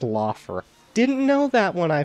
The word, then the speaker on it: Lothar: Yeah, apparently that's pronounced Lothar.